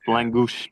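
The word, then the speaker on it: lángos: Langos or langu. It's spelled Lang G O S. Yes. Langouch. It is.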